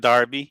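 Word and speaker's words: Derby: of england yeah so is that how you pronounce it darby darby darby okay even even reading you know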